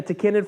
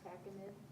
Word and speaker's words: tachinid: I will tell you, though, that if you get a tachinid fly or one of the many different species